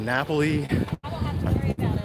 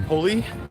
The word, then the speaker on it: Napoli: I love you get Napoli good fact if you've been watching the channel long enough you know I used to pronounce that mega wrong and called it the pulley bounding it up